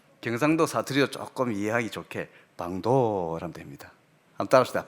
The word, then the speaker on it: 방도: 그런데 이게 BANG로 방자를 쓰면 되는데, 페루로 가니까 스페니쉬로 쓸 때 그게 BANG 아니고 PANG를 쓸 때 발음이 빵도더라고요. 보니까 한번 따라합시다. 빵도.